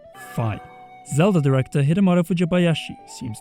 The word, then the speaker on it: Fi: Zelda director Hidemaro Fujibayashi seems to have been inspired by its divine knowledge to name the spirit of the Master Sword Phi, with emphasis on the Greek letter Phi as the pronunciation.